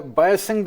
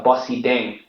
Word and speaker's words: Bosideng: Uh, Victor, uh, Biosyn, I think I'm pronouncing it wrong. A stock I haven't heard before. Uh, give us the story and the correct pronunciation. Yeah. So, it's a Bossy Deng.